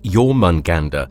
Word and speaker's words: Jörmungandr: to another marvelous videos pronounced as your munganda he happens to be